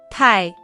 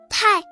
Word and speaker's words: 太: Tai, tai, tai, tai, tai. This character is the 4th tone, so it should be tai.